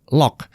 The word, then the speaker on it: LOQ: yaitu lock 15 Iya loq itu bacanya adalah lock ya menurut Lenovo Indonesia lock 15 ini diposisikan